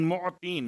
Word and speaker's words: معطین: یا خیر المعطین، معطین، میم عین توئیں یہ نون، معطین، موتی۔ اب چونکہ اگر